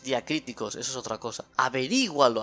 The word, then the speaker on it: averígualo: Averígualo, acento en la I.